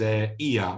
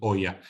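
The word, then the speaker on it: Oia: most beautiful part of Santorini is IA or some some people are pronouncing oh yeah which is wrong uh so Ian is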